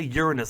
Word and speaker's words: Uranus: Oh, by the way, in that same episode, they pronounce Uranus. They don't say Uranus like they usually do in academia to make it sound less like your anus, which is a bit odd.